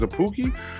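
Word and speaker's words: Szapucki: are but jordan yamamoto and left-handed pitcher thomas zappouki see that's how you say his name is a pookie uh yeah yeah they uh looks like they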